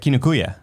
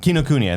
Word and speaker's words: Kinokuniya: You go to Kinokuya. Oh no, Kinokuya. I forgot how called to the pronounce it. Cool, though. I just called the bookstore. Kinokuniya.